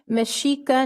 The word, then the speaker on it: Mexica: year and i'll defer to councilmember connell to pronounce that yay right okay so the uh uh proclaiming meshika new year yey akkad thank you very much